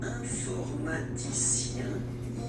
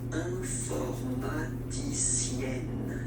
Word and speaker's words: informaticien: And the last group is IEN, informaticien, yin. So that's the way to pronounce this IEN, yin.